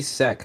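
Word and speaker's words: Seck: Jiggy Sek. Apparently it's Sek, not Sack. Yeah, apparently his last name's spelled S-E-C-K. No, just S-E-K, actually.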